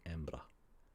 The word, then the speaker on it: Embra: But myself and other people from Edinburgh will say it faster, Edinburgh, Edinburgh, to the point where I often just say Embra.